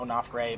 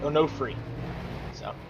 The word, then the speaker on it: Onofre: got Edwin onofre without onofre my apologies were pronouncing it earlier it's no free I've got I've been